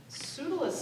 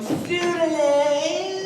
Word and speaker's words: Pseudolus: But Pseudolus said... Pseudolus, I might have known. Hero, master! Pseudolus! Pseudolus! Yes, Hysterium. Pseudolus! You know, pronounced perfectly. A lot of people say pseudolus, and I hate it.